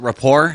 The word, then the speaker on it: rapport: over over a report is that rapport am i pronouncing it correctly yes like the french word to you know build